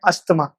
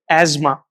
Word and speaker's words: asthma: Next जो है हमारे पास वो है आप लोगों की भाषा में अस्थमा, जो कि गलत है, इसको सही प्रोनाउंस करेंगे एजमा, एजमा, ध्यान रखिए, अस्थमा नहीं बोलेंगे।